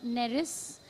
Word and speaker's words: Neris: There's that short story you have called A Welcome for the River God, where there's that man called Neris. Is that the right pronunciation? Yes, that's right, Neris.